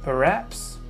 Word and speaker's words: perhaps: Alors vous notez bien que quand on emploie maybe, l'accentuation se fait sur la première syllabe, et perhaps se fait sur la seconde syllabe. C'est le A qu'on va accentuer, ok?